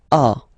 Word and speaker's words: as: So as you can notice, second form as is pronounced a, and this is a. Same pronunciation in both cases.